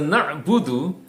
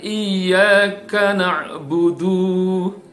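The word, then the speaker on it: نعبد: di dalam ayat ini kita sering mendengar di dalam frase na'budu ini dipanjangkan ya jadi dibaca iyakanakbudu Nah ini salah disitu 6 butuhnya pendek ya atau juga pernah juga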